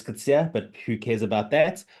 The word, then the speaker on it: Coetzee: t z we the official pronunciation is Kia but who cares about that wayne.